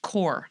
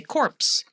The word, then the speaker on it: Corps: CORPS, but pronounced core. A lot of my students will always say corpse.